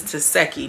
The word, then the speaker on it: Taseki: to Krishan's sister, and the way that you say her name is Taseki. Now, baby, I've been calling her everything but a child of God. I did not know that that is how you say it.